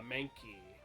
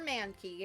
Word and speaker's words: Mankey: a good nickname for Mankey guys man you're putting too much emphasis on the you're putting the emphasis on the wrong soap is Mankey not Mankey it's Mankey it's Mankey Mankey Mankey